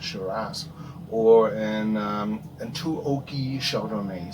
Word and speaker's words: Shiraz: Oh my God, Shiraz. That's how you say it, Shiraz, or an too oaky Chardonnay.